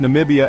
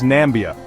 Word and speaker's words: Namibia: heard of or when he mispronounced Namibia as nambia or most infamously when